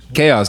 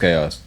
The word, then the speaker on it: Chaos: But Kayeos. Nah, he told me it's pronounced Kayeos.